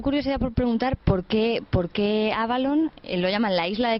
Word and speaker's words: Avalon: Sí, la expresión exacta, la pronunciación exacta sería algo como la V en F, la que utilizan allí. Se parece más a F que a V. El Avalon nuestro es más Avalon